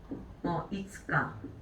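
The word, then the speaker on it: 五日: 이츠카. 자, 그럼 6일은 뭐예요? 맞아요. 무이카라고 읽게 되죠.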